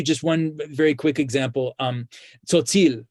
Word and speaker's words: Tzotzil: That TS sound at the beginning of the word and in the middle of the word, tzotzil, it's the same sound at the end of the English word cats.